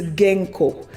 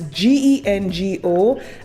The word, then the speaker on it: Gengo: The next company is Genco. And again, I may be mispronouncing this. It's Gengo, and the link will be on my Patreon.